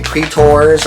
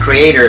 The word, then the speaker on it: Cretors: So I hope I'm pronouncing it correctly. Cretors or Cretors. It's not creator, it's not creature, Cretor, right?